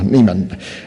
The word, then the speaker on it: Neiman: Senate Democrat amendments go to John Ziegler, and Republican amendments go to Kevin, is it Neiman? Yeah, Neiman, not the German pronunciation.